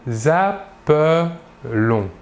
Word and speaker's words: appelons: En effet, le E suivi de double L se prononce est, alors que le E suivi d'un seul L se prononce E.